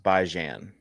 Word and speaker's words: Bijan: It's pronounced Bijan. All right, Bijan.